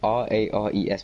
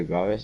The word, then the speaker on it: Rares: Like, you spell it R-A-R-E-S, but they say Rares, it's really weird.